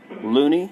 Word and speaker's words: Loney: Thank you for holding the line, Loney. Are you there? Loney. It's pronounced Loney.